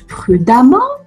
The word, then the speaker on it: prudemment: prudement nom et poté ça se prononce prudemment on doit garder le e de l'adjectif qualificatif prudent mais quand j'ajoute en deuxième le eux se prononcera à comme sur le le mot femme pardon je vous écris